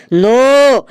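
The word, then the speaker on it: know: স্যার ওটা লেখা আছে কে এন ওডব নো। এখানে কে এর উচ্চারণটা মুখে হবে না।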